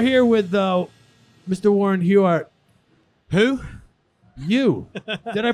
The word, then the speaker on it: Huart: oh we're here with uh Mr Warren huart who you did I pronounce it right you did yeah okay I